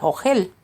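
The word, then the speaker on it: אוכל: no lo puedo comer Lo cual en hebreo se pronuncia o gel la siguiente fuente Explica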